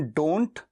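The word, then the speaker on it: don't: डू नॉट का contraction डोंट और टी को साइलेंट करके केवल डोन, डोन।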